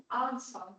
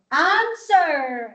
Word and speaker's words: answer: do you pronounce this sh how do you pronounce this answer answer you don't say un unwear okay autum okay